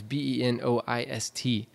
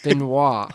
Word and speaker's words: Benoist: It's Benoist. Benoist. But anyway, who's Melissa Benoist? Keep saying it wrong there, Josh. Benoit. Benoist. Let's go there. Benoit would be a O-I-T.